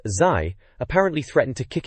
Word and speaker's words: ZY: Wheel of Fortune 64 is mentioned because reviewer ZY, pronounced Zai, apparently threatened to kick its face off if it ever got a PAL release.